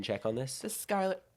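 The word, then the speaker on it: Schuyler: check on this the Skyler is it Skyler Skyler the Skyler sisters it's spelled s c h u y l e r just for the record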